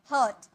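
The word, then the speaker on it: hurt: drag चोट पहुंचाना हर्ट हर्ट नहीं आर साइलेंट हर्ट इसे हम क्या बोलेंगे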